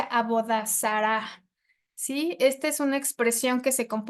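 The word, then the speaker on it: עבודה זרה: Y bueno, la palabra idolatría en el Antiguo Testamento viene de una palabra hebrea que se pronuncia abodazara, ¿sí?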